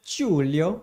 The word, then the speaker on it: Giulio: through giulio weren't you i was playing julio that's how you actually properly pronounce it julio no julio we had